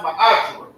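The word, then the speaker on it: מעשר: It means tenth in Hebrew and it's pronounced ma'ashra.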